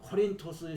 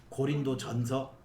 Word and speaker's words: 코린토스: 그 베마 위에서 어 코린토스 시민을 상대로 연설했다 하는 기록이 나와 그게 이제 우리나라에서 발음을 조금 부정확하게 말하는 고린도전서 고린도 서라고 하는 그 코린토스에서 실제로 아그라의에 사도